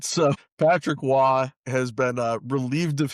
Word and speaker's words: Roy: The important distinction here being he is French Canadian, hence why it is pronounced nothing like it appears.